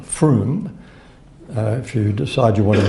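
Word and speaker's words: Frome: the county of Somerset in the UK called Froome if you decide you wanna doodle this later it's spelled fr om a if our ome it's pronounced Froome about five years ago a GP in the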